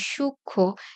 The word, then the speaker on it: সূক্ষ্ম: কাজেই আমাদের উচ্চারণের নিয়মে যেটা লিখতে হবে, এই সূক্ষ্ম যেখানে ম ফলাটা ছিল কিন্তু আমরা উচ্চারণ করি না, সেখানে একটা চন্দ্রবিন্দু দিতে হবে।